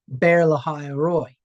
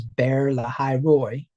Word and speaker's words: Be'er Lahai Roi: Or maybe I should pronounce it correctly. It's Be'er Lahai Roi. Pronounce it correctly. Just to get out of the whole American pronunciation of the thing.